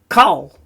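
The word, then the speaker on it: כל: Kol. So why is it kol? Because it has the kamatz rule. The kamatz rule meaning it's a short O sound if it's in a closed syllable, meaning there's not a vowel after this letter.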